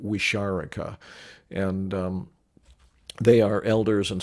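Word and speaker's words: Wixárika: respectful name is and i think i'm pronouncing it fairly close to i don't know if i got it exactly right i pronounce it wisharika and they are elders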